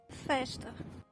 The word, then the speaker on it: festa: Before a devoiced consonant, or before a pause, S and Z are sh. An example is the word for party. festa, As such, before a voiced consonant, they're pronounced as j.